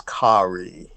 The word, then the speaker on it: Khari: Kyrie Samson.